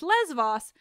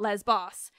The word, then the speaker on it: Lesvos: Also, apologies for nitpicking, but the correct pronunciation is Lesvos, not Lesbos.